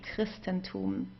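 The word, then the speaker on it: Christentum: We would pronounce it as a K. Christristenum.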